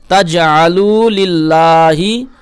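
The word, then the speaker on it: فلا تجعلوا: ওকে আচ্ছা এরপর দেখুন এই যে ফালা এই যে লাম আলিফ এই লামে এক আলিফ টান দিবেন ফালা তাজা লিল্লাহি হ্যাঁ এই যে লামে লুমা জন্য এখানে এক আলিফ টান দিবেন তাজালু লিল্লাহিম ওকে এই যে এই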